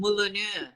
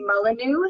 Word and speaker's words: Molanu: Malan I've been saying Mulan it's been South Africanized to Molanu so it would have been originally from Mulano so watermill so it's